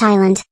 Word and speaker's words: island: I am going to compete in battle for Go Animate Island. According to my research, the word S on island is silent.